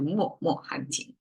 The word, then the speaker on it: 脉脉: my as well but in this expression it somehow changed the pronunciation to more more um and by the